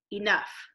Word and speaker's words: enough: Our next word has an E in an open syllable, so it will say its name. And an OU vowel team, which here it's going to make an sound, like in the word touch. And there's our GH.